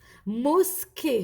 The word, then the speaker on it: mosquée: mosquée هنا لو اس il est pas entre deux voyelles عنده منا une voyelle ومنا une consonne donc تنطق اس mosquée.